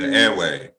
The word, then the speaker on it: Ewe: the ewe people are ewe some old school airways okay thanks for pronouncing the rocks so airway people now they